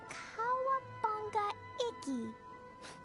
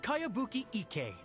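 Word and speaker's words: Kayabuki Ikkei: By Kawabunga Iki. Yoniha, this is a really strange name. Who's this Kawabunga? It's pronounced Kayabuki Ike.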